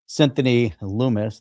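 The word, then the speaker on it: Lummis: The Clarity Act, well, as typical, stuck Lumis, that rhymes with humus, right?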